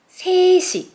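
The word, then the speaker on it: 세 시: And because of this siot batchim, and there is a unit si, set changes to sesi.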